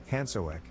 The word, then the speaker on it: Hansjörg: His mother called him Hansjörg, pronounced Hansoek, a German version of his two first names.